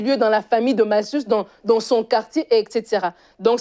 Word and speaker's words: Malchus: C'est Malchus. Ah ouais? Ça se prononce, c'est Malchus.